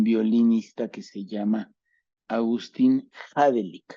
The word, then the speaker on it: Hadelich: Pero yo en la vida, honestamente, había escuchado de un violinista que se llama Agustín Hadelich, o Hadelich, se escribe Hadelich.